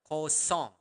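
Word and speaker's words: kosong: me Co song uh make sure that you are pronouncing the Nal sound there Co song song like a song okay so Co song okay coong okay Bon bonus lesson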